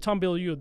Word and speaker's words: Tom Bilyeu: Tom Bilyeu, that's how you pronounce it.